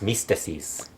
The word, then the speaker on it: Myzteziz: AAA finally came up with a name for Mystico Sin Cara, and it's mystices. And do you have the spelling on that? I always forget how it's spelled.